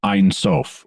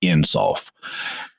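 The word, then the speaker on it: Ein Sof: understanding of god in kabbalah is einsof or sometimes pronounced insult there's a there's a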